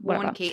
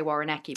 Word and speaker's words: Warnke: Warnke. It's difficult because you want to say Warrenecki, but it's not. It's not.